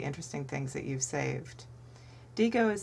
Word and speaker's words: Diigo: DGO is spelled D I G O.